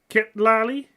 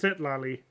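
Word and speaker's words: Citlali: Kitlali? Huh. In the English, it's been pronounced Sitlali, I think. Pretty sure it's been pronounced Sitlali in the Genshin, or in the English.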